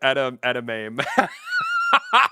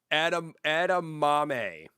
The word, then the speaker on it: edamame: OH, I didn't say it right. I called it edame. I could Dude, I know. My boy Marcela is losing his mind, dude. Edamame.